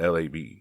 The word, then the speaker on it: Lab: or h s v i pronounce it l a b because it consists of three channels l a and b and we're not talking